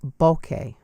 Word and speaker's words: Bokeh: of Japanese origin its bouquet bouquet so the emphasis is on the first syllable but I fear you'll